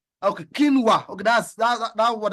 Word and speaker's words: quinoa: Okay, someone just helped me says it is called kina. Okay, quinoa. Okay, that's that that what I was trying to pronounce. Um, quinoa.